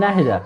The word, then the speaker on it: Nahida: I was pronouncing it in English, so that's why I did not recognize it. But when I pronounced it properly, I was like, we do have that name. So Nahida. It's not Nahida. It's Nahida. Nahida. It's an Arabic name.